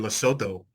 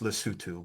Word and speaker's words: Lesotho: We play in Loto, which is Americanized. It's actually properly pronounced Lutu.